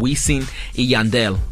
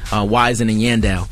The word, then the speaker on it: Wisin & Yandel: by the name of wee seng yandel a lot of people pronounce like wisin & yandel oh that's fine now